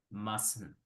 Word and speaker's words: mustn't: Bien. Mustn't. Comiéndome la T.